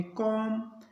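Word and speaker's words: calm: और इसको पढ़ेंगे ट अब अपने देखते हैं एल साइलेंट कहां रहता है एल के बाद एम आ एफ आ के आई डी आई इनमें से कोई भी लेटर आए तो एल रहेगा साइलेंट जैसे पहले देखते पी ए एल एम एल के बाद एम है तो इसको पढ़ेंगे सी ए एल एम एल के बाद एम है इसको पढ़ेंगे काम उसके बाद सी ए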